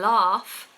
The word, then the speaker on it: laugh: have love and laugh laugh is a good word long vowel R and then the letter F is what you want to think of laugh laugh some people in north of England and in America will say laugh with an a you want a a not a yes laugh odor odor